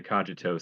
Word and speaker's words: cogito: I was taught um originally I was taught it was the kogi the cogito but um but I've looked it up and there seems to be no consensus on how it's pronounced though the kajito seems to have stuck and I'm cool with